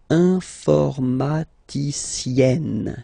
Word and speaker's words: informaticienne: And you get the sound informaticienne. Sienne. Remember, E and then double N, or then it could be double L or double consonant here. You open your E, so it's E. Informaticienne.